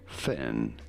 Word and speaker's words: Fionn: Pronouncing this one, you know, pretty much ignore the O, Fen, and Fen.